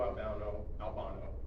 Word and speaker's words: Albano: But the biggest thing I think that happened was Captain Lou Albano, that's the correct pronunciation of that, did a music video with Cyndi Lauper.